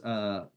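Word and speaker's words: Adeodatus: His name is Adiodatus. So get the emphasis on the penultimate syllable.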